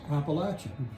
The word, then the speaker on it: Appalachia: Uh so in the south uh the correct pronunciation is Appalachia, but once you get up to New York